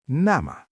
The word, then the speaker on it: nämä: It becomes nämä.